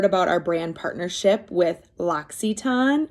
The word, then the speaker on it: L'Occitane: And like when I first heard about our brand partnership with L'Occitane, it's spelled like L apostrophe OCCITAINE, something like that.